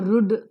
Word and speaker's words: rude: but it is put r-u-d-e it is not Rad or rude but it is rude the longer pronunciation m-i-n-u-t-e